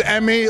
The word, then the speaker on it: Eme: pronounce it all right my name is Emmy like the awards and then aaer imagine